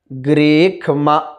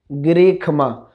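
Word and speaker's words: ग्रीष्म: ग्रीखमा इधमाह शारद्धा वीहि, ग्रीखमा, वहाँ माँ के साथ में यही वाला मूर्धन्य शकार ही है, लेकिन उस स्थिति में इसका उच्चारण खा हुआ है, क्योंकि वहाँ ट वर्ग का शब्द नहीं है।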